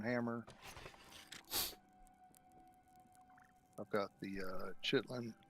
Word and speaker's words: chitin: ax the iron hammer I've got the uh chitlin chitten or however you say it though um part of me just died how do you say it chitin all right Titan bow we have kite and